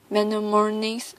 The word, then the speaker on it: mnemonics: Use mnemonic device to make memorization easier. Mnemonics, the initial M is silent, are clues of any